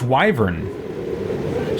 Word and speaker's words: wyvern: That is the first time I think I've ever heard a professional product pronounce it wyvern. That's how I thought it was pronounced growing up, just reading the word in books and never hearing it. But then at some point I was told it's pronounced wyvern. So I'm wondering, okay, is that a British pronunciation for it?